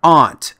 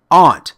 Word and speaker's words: aunt: the word aunt is pronounced Aunt not aunt or Auntie or Auntie the word is Aunt say it with me Aunt for more tips